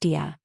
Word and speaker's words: Dai: Her name, Shi Dai, pronounced Dia, literally means stone butterfly.